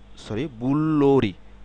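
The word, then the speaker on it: 불놀이: শব্দে যখন আমরা এগুলো সিলেবলগুলো উচ্চারণ করবো তখন হবে কি বললো, বুল্লোলি, বুল্লোরি, বুল্লোরি। কারণ এই রিউল আবার এই ভাওয়েলের সাথে ইন্টারেক্ট হয়ে উচ্চারিত হবে, বুল্লোরি।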